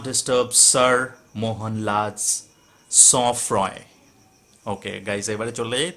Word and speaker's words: sang-froid: Guys এই sang-froid উচ্চারণ, এই sang-froid আছে, ওটা উচ্চারণটা হচ্ছে sang-froid। কেন sang-froid উচ্চারণ বলে দিই, আর কেন এখানে ইউজ করা হয়েছে। sang-froid ইটস a French word, আর এই ওয়ার্ডটার মিনিং হচ্ছে কোল্ড ব্লাডেড।